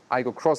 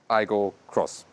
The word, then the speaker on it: Aygo X: Aygo Cross styling, and you indeed say Aygo Cross, although it says Aygo X, and the Corolla Cross says really Corolla Cross. Yeah, they still pronounce it Aygo Cross.